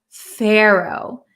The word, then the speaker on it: pharaoh: to be careful because there's an a o h at the end it sounds like an o w right Pharaoh Pharaoh so here's the pronunciation in American English Sero pharaoh okay an example sentence he